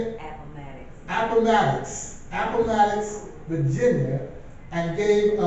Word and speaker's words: Appomattox: Appomattox, Virginia, and gave a letter of defeat and said, we will end the war.